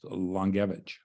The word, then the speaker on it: Langiewicz: don't butcher long gavigen spelled like langowitz but it's pronounced longevich longevich that's cool um